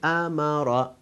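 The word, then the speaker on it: أمر: shape of alif, but we don't pronounce alif, because the pronunciation of alif is because it's 2 fatha. But here we pronounce, in the place of alif we pronounce hamza, and hamza accompanied by fatha. So we say amara.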